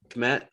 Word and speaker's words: Kmet: Kmet.